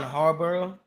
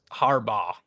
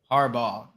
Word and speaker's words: Harbaugh: the year we got Dan Campbell yeah John Harbor I don't know how to say this Ryan